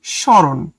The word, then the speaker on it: স্মরণ: স্মরণ এটার উচ্চারণটা হবে এরকম স্মরণ।